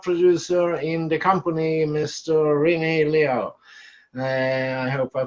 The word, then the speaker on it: Rene Liaw: And again, my name is Rene Liaw.